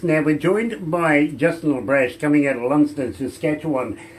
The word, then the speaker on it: LeBrash: It's spelled like it sounds, but you would have no idea how many people go LeBrash? No, LeBrash. Exactly.